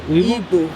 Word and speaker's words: Igbo: Igbo.